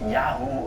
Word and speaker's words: Yahweh: While in later books of the Bible, names compounded with Yahweh become common, although the name Yahweh seems to have been pronounced Yahu or Yahoo at the time.